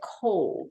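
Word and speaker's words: Cobh: The last stop in County Cork is the city of Cove, and they pronounce it that way, like C-O-V-E.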